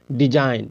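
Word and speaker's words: design: पहले आया आया ना जैसे डी ई एस आई जी एन तो जी किसके पहले आया है तो जी जी जो आया एन के पहले आया है तो इसमें जी का उच्चारण नहीं होगा इसको बोलेंगे डिजाइन इसको बोलेंगे फैन इसको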